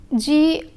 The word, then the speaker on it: grand: Pronunciation wise, one hears the sound only in the feminine form. The letter D is not pronounced in the masculine form.